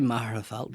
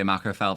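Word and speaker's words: Magherafelt: Marafel, right? Yeah. Yeah. Macfelt is way macarel. I say Marafel, but then I always say macarfelt for anybody that's not from there, though.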